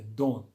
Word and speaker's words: don't: abreviada né que é don don pode ser você pode pronunciar o t como bem não pronunciar Não precisa não faz